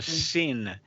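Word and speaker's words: שׂין: It's called a sin when it's on the left. And the way I remember that it's a sin is because sin is never right.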